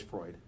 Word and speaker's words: Freud: Don't pronounce it how it sounds. It's always Freud. Yeah. We had on Zoom we had a bunch of people saying fruit. It's Freud.